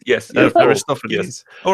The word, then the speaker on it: Aristophanes: Zardos was saying in the chat, he's saying Aristophanes. in ancient Athens. Aristophanes, yes, yeah, of course, Aristophanes. yes. All right, excuse my pronunciation.